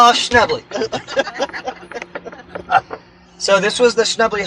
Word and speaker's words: Schnebly: Schnebly. It's spelled S-C-H-N-E-B-L-Y.